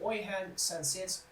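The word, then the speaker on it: Oihan Sancet: Then, moving on to our attacking midfielder, I think it's pronounced Oyhan Sanset.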